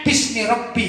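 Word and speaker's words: بِسْمِ رَبِّ: menggunakan lafdzul jalalah Allah, maka dia ditulis aslinya itu bi ismi Rabbi, gitu. Bi ismi Rabbi. Tapi bacanya bismi Rabbi, begitu ya.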